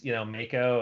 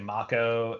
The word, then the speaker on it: Mako: Because we kind of all grew up thinking it was, Mako, and it's actually Mako, and, Don Corneo is